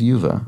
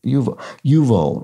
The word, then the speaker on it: Yuval: It was Yuva. Oh, sorry. Yuval. Right. Yuval. Okay. That. Did I just not pronounce the L for some reason?